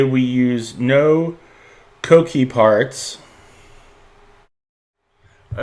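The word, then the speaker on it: Coquí: And I hope I'm pronouncing that right. I hope it's not a cookie or something like that, but I'm pronouncing it Coqui.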